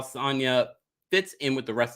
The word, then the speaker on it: Sanya: see how sanyas sanya i hope that no now i'm pronouncing like tanya sonya there we go fits in with the